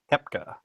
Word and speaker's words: Koepka: No, Koepka. Koepka. The O is silent.